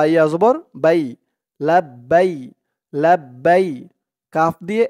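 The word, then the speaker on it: لبيك: জন্য চিহ্ন দিয়েছে তো আপনারা এখানে থেমে পড়লে উচ্চারণ করবেন লাব্বাইক এরকম লাব্বাইক আল্লাহুম্মা লাব্বাইক এরকম করে বাই বলে এক আলিফ টান দিয়ে এই কাফকে ধরবেন কাফের উপরে জবরটা সাকিন করবেন লাব্বাইক লাব্বাইক আল্লাহুম্মা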